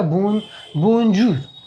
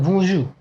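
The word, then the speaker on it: bonjour: बोंजू, ये इसको इंग्लिश के जो लड़का होगा इसको पढ़ेगा बोंजू, बट इसको फ्रेंच का जो प्रोनाउंसिएशन होता है थोड़ा सा नाक से दबा के बोंजू, ये हो गया।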